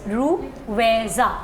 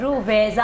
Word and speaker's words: रूवैज़ा: Seriously, it's रूवैज़ा। तो इसको 3 parts में लाना है। आपके लिए 3 पार्ट्स। रूवैज़ा।